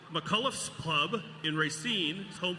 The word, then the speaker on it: McCullough's: I'm going to take a moment to impress our hometown audience here and pronounce this pub correctly. McCullough's Pub in Racine is home for live and original music all over the world.